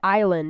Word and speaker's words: island: way I mean and look at Island it hasn't silent s in it but it's like in the middle of it too so it's like it's